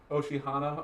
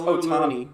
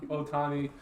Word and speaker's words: Ohtani: can't say his name oshihana ohtana oh shihana oh my God it's uh it's Otani ohtani it's like shogi those who pitching in that 18 18.